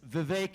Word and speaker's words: Vivek: name is Vivek ramaswamy it's Vivek it rhymes with cake as some of you